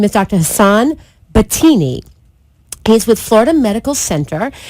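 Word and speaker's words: Batayneh: And his name is spelled a little bit strange for the pronunciation. I only say it because if you want to search him on the net, you actually can spell his name B-A-T, like bat, A-Y-N-E-H. B-A-T-A-Y-N-E-H. His name is Dr.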